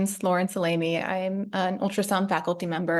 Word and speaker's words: Lauren Salame: right thanks so much Faith um you actually pronounced my name quite well my name is Laurence alamy I'm an ultrasound faculty member at Brigman Women's